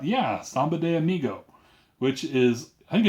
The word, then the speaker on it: Samba de Amigo: Is that how you pronounce it? Yeah, Samba de Amigo.